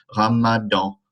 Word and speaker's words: Ramadan: Le Ramadan, nasal sound. Ramadan, Ramadan.